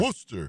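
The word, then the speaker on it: Worcester: 1st to April 6th against Worooster. That's right. Did I say it right there? Yes, sir. Worster. Worster.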